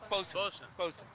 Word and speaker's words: boatswain: Bosun. I know it's spelled boatswain.